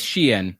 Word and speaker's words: Shein: Oh, it is Shein.